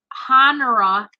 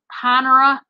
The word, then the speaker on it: Honora: the letter h if i recall right is honora how do you pronounce that name brand in pearls not honor but connera pearls that's what these are